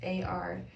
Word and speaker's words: Artemis: And then Artemis, and then the pronunciation is AR-TE-MISS.